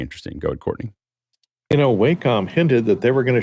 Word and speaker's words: Wacom: do you say this is it Wacom Wacom Wacom Wacom is the right way to say that you're welcome you welcome